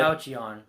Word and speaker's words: Falchion: The one with Falcon on it. Falchion. Yeah, Okay. I think That's how you pronounce his name.